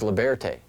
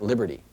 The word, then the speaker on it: Liberté: This is Liberté, not Liberty.